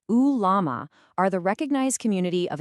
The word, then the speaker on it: ulama: The ulama, pronounced ulama, are the recognized community of Islamic scholars.